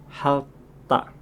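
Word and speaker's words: 핥다: Huruf berikutnya ada kombinasi dari kata real dan real dan ini kalau bertemu dengan huruf konsonan maka akan dibaca real-nya saja. Misalnya di sini ada kosakata menjilat yang dibacanya halta.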